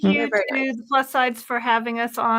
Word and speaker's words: Plus SideZ: But we're simulcasting plus sides. Sorry. Yes, The plus Z is sides. silent. It's The Z is silent, right? Well, Yep. it's like sides, like many sides, because it's the plus sides of GLP-1 medication.